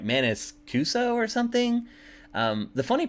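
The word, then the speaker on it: Maniscalco: I can't even ever say his name right Manis cuso or something um the funny part is that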